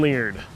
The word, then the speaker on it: Leard: Who's the best Auburn quarterback never to win a Heisman and who also has the last name that rhymes with weird? That would be myself, That's Ben it. Leard.